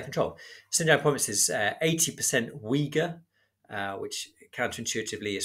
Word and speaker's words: Uyghur: Xinjiang province is 80% Uyghur, which counterintuitively is spelled U-Y-G-H-U-R.